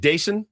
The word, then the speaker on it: Daison: Is it Daison? Daison Yes. is how they pronounce Daison.